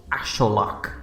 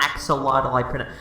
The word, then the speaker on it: axolotl: striking resemblance to the axolotl, which, yes, that's how you pronounce it. That's how you actually pronounce it, not axolotl.